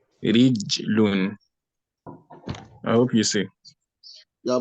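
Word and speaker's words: رِجْل: For a leg, you say rij, not raju. Rijlun.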